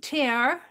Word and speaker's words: tear: and then the wheat tear here the double weep I say tear it's t-e-a-r slow stitching yeah all